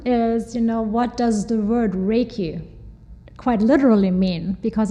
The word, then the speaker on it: Reiki: One is, what does the word Reiki quite literally mean? Because it's a Japanese word. And it consists of two syllables, rei and ki.